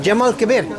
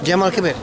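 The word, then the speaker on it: الجامع الكبير: mosque in Arabic how do you say J Jamal Kabir yes Jamal Kabir okay all right yeah actually I knew that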